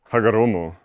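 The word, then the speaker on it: Hagoromo: So, Hagaromo. Oh, I've been pronouncing that wrong my whole life.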